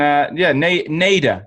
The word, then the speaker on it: Nader: Everyone wants to pronounce the ending in a different way, but yeah, it's just flat Nader.